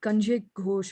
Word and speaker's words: Kanjik Ghosh: Is that Kanjik Ghosh, I think, has raised their hand, if I'm pronouncing the name correct. Yeah, it's correct.